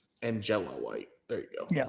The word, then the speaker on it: Angela White: I always want to say Angelina. It's not Angelina's. It's not spelled that way.